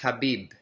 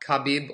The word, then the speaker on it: Khabib: show one quick thing his name is pronounced Habib not khabib or Habib Habib now